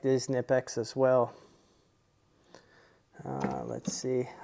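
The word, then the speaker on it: Knipex: is the Raptor by nipex um some I guess you pronounce them kpex sometimes uh here you've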